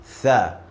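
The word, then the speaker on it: ث: Tha. I'm gonna teach you how you can pronounce this letter correctly. So look at my mouse. When I say this letter, my tongue goes to the front teeth.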